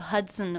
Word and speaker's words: Hudson: Did you notice how the second and unstressed syllable of Hudson was pronounced? It's written with the letter O, but there's the schwa vowel in there. As an unstressed syllable, it's very fast.